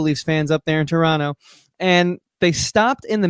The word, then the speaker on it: Toronto: years ago we were in toronto noticed my pronunciation on that it is correct toronto and uh we were playing a show actually